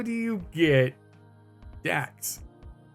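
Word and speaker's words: Daecks: x like dockers and you're just pronouncing it wrong like look d-a-e-c-k-s dax dax the appearance yeah trusty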